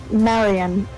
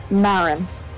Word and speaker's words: Marin: what he sounds like not Marion Marin was oh I'm sorry two syllables no you're fine did